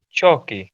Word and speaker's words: chalky: chalky, With chalky. What is it? Chalky? chalky faces. Chalky. Chalky. It's No, like pale. L is Yeah. silent here. L is silent.